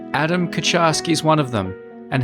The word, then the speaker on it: Kucharski: So Kucharski, is that how do you say your surname? So that's how we say it phonetically. The Polish pronunciation's slightly different, but it actually translates as cook.